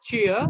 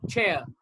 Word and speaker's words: chair: chair this is chair it's not cheer it's chair chair all right this is